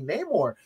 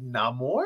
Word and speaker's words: Namor: like we were like how do you say his name like I say name or he said no more like I saw the